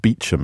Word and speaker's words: Beauchamp: It's why they words like Beauchamp pronounced Beecham, and the spellings bear no resemblance whatsoever to pronunciations.